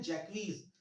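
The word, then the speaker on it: Jaques: देखो कई लोग इसका प्रोनाउंसिएशन जैक्स करते हैं, जैक्स नहीं है, इसका प्रोनाउंसिएशन है जैक्वीज।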